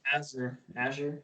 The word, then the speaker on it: Azure: Azure. Ah. Yeah, you're right. The pronunciation is A.ZHR.